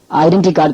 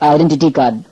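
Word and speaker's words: identity card: ஐடென்டி கார்டு கிடையாது, ஐடென்டிட்டி கார்டு.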